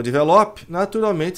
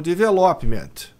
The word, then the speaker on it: development: Então a pronúncia correta é development. Esse P ele é meio engolido, né? Development. Você faz que vai fazer o P, mas não faz.